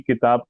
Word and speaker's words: کتاب: بتائیں گے کہ جی کتاب میں کاف جو ہے وہ مکسور ہے، تا مفتوح ہے، الف ساکن ہے، اور پھر با ساکن ہے. ٹھیک ہے، تو کتاب، تو آپ نے تلفظ بتایا ہے.